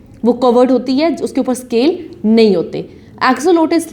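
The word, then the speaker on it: axolotl: एक्सोलॉट्स, pronounced as एक्सोलोटस, ठीक है।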